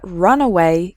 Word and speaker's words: runaway: So the first word has 3 syllables, run away, and the second word has just 2 syllables, runway.